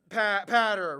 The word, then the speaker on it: Potter: Okay, so it's like ladder, but patter, right?